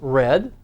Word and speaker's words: read: Why, ask, went, there's our nth unit, men, there's our N unit, read can also be pronounced read, need has the E